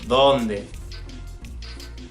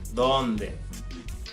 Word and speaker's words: donde: The English word they is very similar because in Spanish you pronounce your D's similar to that same TH sound that's in the word the, they, you get it?